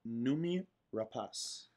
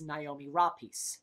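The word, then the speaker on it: Noomi Rapace: marteau carlotto kota and numi rapas the actress who we have all been mis pronouncing her name as naomi raw piece uh that there's no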